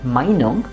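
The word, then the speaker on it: Meinung: and that's where uh Minong we need to stress the first part which you've already seen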